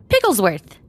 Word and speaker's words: Pigglesworth: Pigglesworth. You don't say that piggy. No, that's Pigglesworth. Okay, then there you do say all the letters.